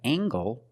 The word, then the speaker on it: angle: We have angle, spelled L-E, making the nasal sound and the hard g.